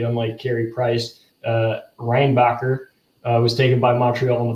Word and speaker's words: Reinbacher: Both took vendors in the first round last year, and I'll pronounce his name correctly, unlike Carey Price. Reinbacher was taken by Montreal in the first round last year.